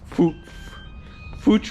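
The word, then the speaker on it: Fuchs: Fooch wheels. I don't know if I want to say it right without getting censored on YouTube. Fuk fuk wheels. Fuk. Yes. Fuk.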